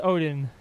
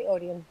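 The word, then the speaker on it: Odeon: is I the the odan or the Odin I don't know what what what what what the name is is is is it the odan or is it the Odin it's the odan odion okay pronouncing it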